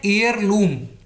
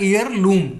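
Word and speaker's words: heirloom: So called मतलब तथाकथित, ये है एयरलूम, ई इसमें एच साइलेंट होता है, EIR को बोला जाता है एयरलूम, ये होता है विरासत।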